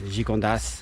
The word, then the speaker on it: Gigondas: But here in the south, they usually pronounce the AS. It's like with the wines, Gigondas, Vaqueras, and the city Aubenas, not too far away from here.